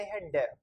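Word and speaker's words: Hund: जैसे हुंड, एच को पढ़ते हैं है, यू जो होता है इंग्लिश में उसको अपन पढ़ते हैं ऊ, तो हु। न, इसके बाद में कोई वोवल नहीं आ रहा तो ये आधा न, और डी का हो गया डे, हुंड।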